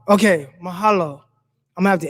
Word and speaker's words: mahalo: It's pronounced mahalo. Okay, mahalo.